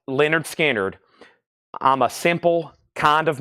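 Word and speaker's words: Lynyrd Skynyrd: I have one Leonard skinnard left 45 RPM pronounced Leonard skinnard I'm a simple kind of man free bird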